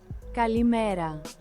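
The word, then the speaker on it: καλημέρα: Kalimera.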